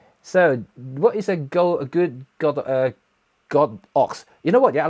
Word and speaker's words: Godox: should be pronouncing as God ox. It's not Godox, it's God ox, and that's actually what's been translated in Chinese, and they have Chinese character in the website.